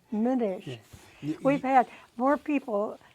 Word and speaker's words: Minish: McNish. Scotch Irish. No C in it. M-I. Yeah. Minish.